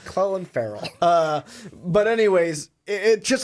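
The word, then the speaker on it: Clelin Ferrell: different than that yeah they were saying like Cleveland Ferrell and I was like oh I think I've been saying that name wrong the whole time it's Chloe Farrell but anyways it just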